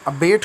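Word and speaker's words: abate: इसमें अबेट का वर्ड, इसमें इसका प्रोनाउंसिएशन बी के बाद ए के बाद बी पर स्ट्रेस है, अबेट। तो इसको ज़रा ज़ोर देकर पढ़ना।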